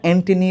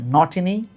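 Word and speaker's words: Ntini: উচ্চারণটা এন্টিনি বা এনগিরি না উচ্চারণটা হচ্ছে নটিনি নগেরি।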